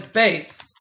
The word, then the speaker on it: bass: This deep male singing voice is spelled the same as a fish, but it's pronounced differently. What is bass?